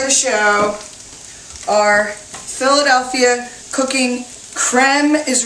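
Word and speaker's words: crème: show our Philadelphia cooking creme is really the way this should be pronounced like creme fresh or creme brulee but it's so thick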